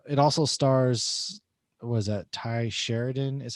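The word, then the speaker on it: Tye Sheridan: actor and uh it also stars was that ty sheridan is how you pronounce his name he's in other movies such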